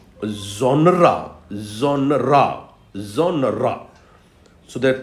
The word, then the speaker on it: genre: it sometimes you know very often people take it as one syllable which is wrong there are two syllables here we we pronounce it like genre genre genre genre so there